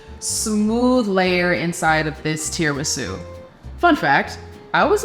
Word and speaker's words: tiramisu: layer inside of this tiramisu. Fun fact, I was like today years old when I learned how to properly pronounce tiramisu. I always thought it was tiramisu, like tiara, the crown.